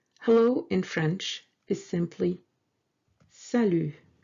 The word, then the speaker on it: salut: Hello in French is simply salut. Salut. Sa, S-A, sa, and lu, L-U-T. Yes, this T is silent. We don't pronounce it.